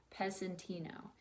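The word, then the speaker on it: Pezzettino: and its title is peasanty no and the Z is pronounced as an S it's an Italian word that means little piece his name was peasant inna all the others were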